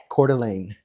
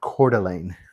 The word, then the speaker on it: Coeur d'Alene: That's going to be par after two holes here at Cordelane. And that's how I think it's pronounced. I believe I heard someone else pronounce it. Cordelane.